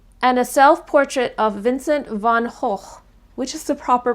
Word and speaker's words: van Gogh: The "Night Watch", and a self-portrait of Vincent van Gogh, which is the proper pronunciation of van Gogh.